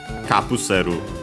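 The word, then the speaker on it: カプセル: The accent, luckily, is still on the ka, regardless. So yeah, capsule, capsule, kapuseru, high, and everything else low.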